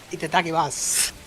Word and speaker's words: itadakimasu: Actually, the U is silent at the end of Masu. That's the. Actually. Itadakimasu.